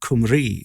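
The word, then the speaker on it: Cymru: bbc studios production for bbc kumri as i believe it's pronounced if i remember correctly which is of course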